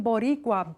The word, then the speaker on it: Boricua: Puerto Rican literature, Puerto Rican poets, Type in Boricua, B-O-R-I-C-U-A, sometimes spelled with a K, Boricua.